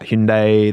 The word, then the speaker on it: Hyundai: point of the advert was that people are mispronouncing it and then they were like yeah it's Hyundai and I was like yeah I swear in